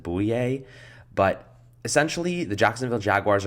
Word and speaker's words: Bouye: one of them is AJ boo yay I think that's how you pronounce it boo EA but essentially the Jacksonville